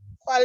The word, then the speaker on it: cuál: ¿Cuál es tu nombre? What is your name? Oh, sorry, sir. ¿Cuál es? That's what it is, yes. So ¿cuál es? You know the accent on the U.